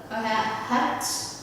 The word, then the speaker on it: hut: And then we have hut, nut. Mình sẽ không đọc là hút hay là nước nha mọi người.